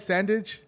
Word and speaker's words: Sandidge: revenue for his clients we have s Sandage did I say that right Sandage you said it right right on man right